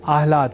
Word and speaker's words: आह्लाद: समझकर या न लिखकर हम आह्लाद अर्थात पहले ह और बाद में ल इस अक्षर विन्यास से युक्त शब्द आह्लाद का ही लेखन और तदनुसार शुद्ध उच्चारण करेंगे।